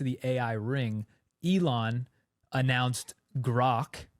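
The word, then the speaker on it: Grok: ring Elon announced grock I think grock's how you pronounce it right I think so yeah you never know with I actually looked this up I I typed in like grock pronounciation and I'm pretty sure that's what it is yeah so he he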